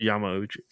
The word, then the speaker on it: Yamauchi: any of that correctly I think it's Yamauchi Yamauchi like you've hurt yourself I think you're right